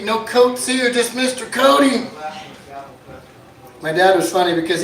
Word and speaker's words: Cote: It's C-O-T-E, but they know it's Cote. They know it ain't Cote.